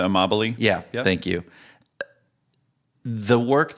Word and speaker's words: Amabile: progress principle you know by Teresa Imel a right I think I pronounced her Teresa Amabile yeah thank you the